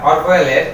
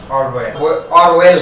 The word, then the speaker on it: Orwell: Pen name বলা হচ্ছে ছদ্মনাম হিসেবে ব্যবহার করতেন জর্জ অরওয়েল না, ঠিক আছে, অরওয়েল। তো আমাদের প্রোনাউন্সিয়েশনের দিকে একটু নজর রাখতে হবে।